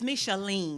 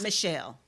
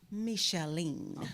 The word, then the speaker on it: Micheline: It's Micheline. It's not Michelle. What is it again? Micheline.